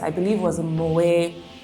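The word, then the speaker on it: Moët: to an event I believe it was a Moet it's actually how it's pronounced um it's the the M andc champagne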